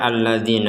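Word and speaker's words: الذين: kita berhenti di sini kata alladina ini kita baca A Ya A ina Padahal di sini tidak ada harakat fathah Kenapa kita baca alladina karena ini termasuk Hamzah ya huruf hamzah yang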